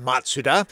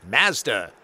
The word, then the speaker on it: Mazda: Founder's name digito matsuda in Japan the brand is pronounced matsuda in Canada it's Mazda you Canadians normally this